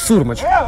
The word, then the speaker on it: Сурмач: И да, Имант Сурмач. А, прости, это ударение, да? Да, да, я попал. На последний слог? Да, да, да. На первый, точнее, да, на первый слог ударения.